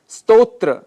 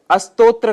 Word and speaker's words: स्तोत्र: स्तोत्र, स्तोत्र के स्थान पर अस्तोत्र का हम उच्चारण कर जाते हैं, जो कि दोष माना गया है।